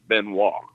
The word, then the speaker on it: Benoit: Yeah, that last name is pronounced Benoit. I was close. I was going to say Benoit, so I was almost there. It was like a French thing, right? That's right, Louisiana French.